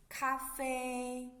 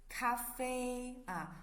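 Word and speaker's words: 咖啡: in chinese cafe cafe some students may find that it's very close to english pronunciation right this word is the words we're borrowed from english so the pronunciation is very similar close to the english so it's cafe so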